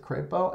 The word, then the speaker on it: Crapo: is represented by two Republican senators senator Mike Crapo of Idaho Falls and he does pronounce it Crapo and Senator James rish who is the former